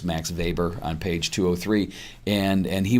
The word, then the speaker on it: Weber: So the book mentions a guy named Max Weber, which is spelled Weber, but it's Max Weber on page 203.